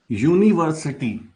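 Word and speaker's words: university: अब देखिए यहां पर जब आप इसको प्रोनाउंस करेंगे तो देखिए यूनिवर्सिटी यू आएगा य य र ल व का य तो य क्या स्वर में आता है नहीं व्यंजन है ना तो वोवेल्स नहीं है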